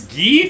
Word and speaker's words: Guy: fire emblem heroes and it's gheef apparently from blazing yeah get the heck out yeah and they even made the joke this guy is ghee and it's like shut the front door i'm sorry it's guy come on his name is freaking guy i had a bit